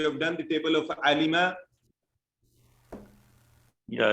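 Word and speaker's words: علم: Alima. Alma. Excellent. Somebody said alima. Please No. remember, pronounce it right. It is alima, like samia. It is not alama.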